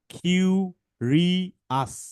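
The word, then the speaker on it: curious: মাইনো ওয়াজ প্লেইফুল অ্যান্ড কিউরিয়াস। কিউরিয়াস, এই ও ইউ এস যদি থাকে মনে রাখবা এটা আমরা পড়বো আস।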